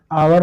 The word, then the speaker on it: hour: और भी एग्जाम्पल आपने देखा होगा, HOUR, इसको हम हावर थोड़ा पढ़ते हैं, इसको हम आवर पढ़ते हैं।